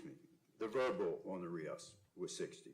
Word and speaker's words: RIAS: And then on the nonverbal, on the race, Rias, did I pronounce it all right? Rias, isn't it Rias? The nonverbal on the Rias? Rias, yes, Rias, I'm sorry, yes, was 60, correct?